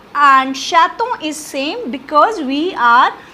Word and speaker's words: chaton: Next word is chaton. Chaton is baby cat. Again we have vowel after T, so it will be pronounced. So the meaning is chaton.